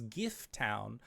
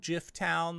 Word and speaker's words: Gift Town: presents, but this is Gift Town, sometimes called Jiff Town. They really don't like it when you call it Jiff Town, but there's been hearty